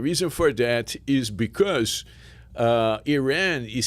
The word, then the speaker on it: Irã: Another interesting distinction is how we pronounce Iran, and in Brazil we say Iran, okay, and in Portugal is different.